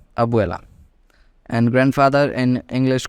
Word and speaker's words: Abuela: in English called Abuela you can pronounce it perfectly by splitting into two terms that is Abu at once and e l a at once so it becomes Abu Allah Abuela and grandfather in English